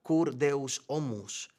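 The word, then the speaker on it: Cur Deus Homo: Como señala Anselmo en su clásica obra que se pronuncia kurdeus omus, él decía, "Ningún ser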